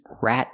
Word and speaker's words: rat: Sheldon save my life he didn't rad me out to the landlord rad me out she means rat me out we need a stop tea at the end of rat rat r or rat